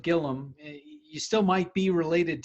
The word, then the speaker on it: Gilliam: Okay, we've got Todd Gilliam. Todd, thanks so much for giving us some time. Absolutely. Happy to be here. Now, there's an I there, but you pronounce it Gilliam.